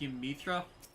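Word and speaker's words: Y'mhitra: I believe that her name is pronounced Ymithra.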